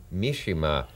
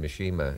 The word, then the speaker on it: Mishima: And his latest film is the highly controversial, it seems all over the world, film Mishima, sometimes pronounced Mishima in America, mistakenly.